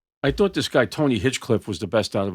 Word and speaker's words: Hinchcliffe: Okay, Tony Hedgecliffe. Hinchcliffe. I got a Hedgecliffe down. You had the name wrong?